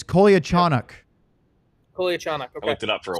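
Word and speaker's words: Kolyachonok: It's Kolia Chanuk.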